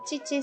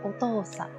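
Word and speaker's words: お父さん: Ya no va a ser chichi, sino que va a ser otosa, ¿ya?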